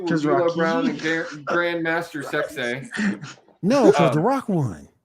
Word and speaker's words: Sexay: I will say, no, you ain't said it right. Grandmaster Sexay. Sexay.